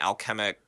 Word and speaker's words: alchemic: production because it sort of seemed like an alchemic science that was, did I pronounce that right?